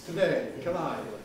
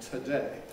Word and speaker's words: today: about these next words police today are these aspirated well not really because here the vowel is weak and in these cases i mean it doesn't matter very much but in practice native speakers don't ask for it as much we don't on the whole say police or today we say police today today so not so much inspiration there what about